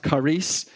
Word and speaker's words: charis: not really know what Karis means it's actually pronounced Carice and it's word we get charisma from Karis